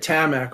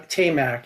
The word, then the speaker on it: Tamac: uh uh talk um I had been calling it tamak all these years so a tate I assume Tate and Tam tamac is the way you should pronounce that their line of dinner